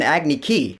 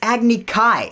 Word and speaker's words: Agni Kai: challenged you to an Agni Ki. I was like, wait a minute, what? It's Agni Kai.